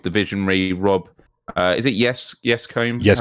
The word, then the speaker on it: Yescombe: We are closely working with the visionary Rob, is it Yescombe? Yes, how do you pronounce his name? Yescombe, yeah.